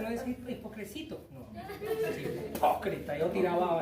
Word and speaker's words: hipócrita: Y de hecho, cuando usted le dice hipócrita a alguien, usted no lo dice hipócrita. Usted le pone un acento en la P, hipócrita. Sí, en serio. ¿Cómo es? Usted no dice hipocresito. No. Es hipócrita.